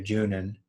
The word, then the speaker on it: Junon: And really the only other reference to that, like in kind of a direct way, is the city of Junon, being just the French pronunciation of Juno.